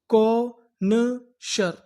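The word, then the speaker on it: connoisseur: ये हमारा साइलेंट रहेगा। और आगे क्या लिखा है? एस। तो इसे क्या पढ़ेंगे? श यू आर। यू आर को पढ़ते हैं अर। तो हमारी पूरी मीनिंग क्या बनी? कोनशर। कोनेश। कोनेशर।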